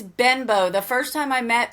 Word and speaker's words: Benbow: Because I said I'm Benbow, and he's like, Benbow? And I'm like, Benbow. I just think we should start pronouncing it Benbow, but whatever.